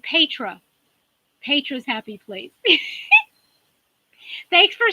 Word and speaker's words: Petra: to hear my name you pronounce it Pedro Pedro's happy please thanks